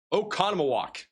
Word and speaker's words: Oconomowoc: This is sent in from Justin over in Oconomowoc, Wisconsin. I know I'm butchering that name. I try my best here. Oco- Oco- Oconomowoc. I I can't remember anymore. Oh wait, I have the pronunciation open. Oconomowoc in Wisconsin.